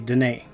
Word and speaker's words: Denis: I was saying Denis Villeneuve, and it's actually Denis.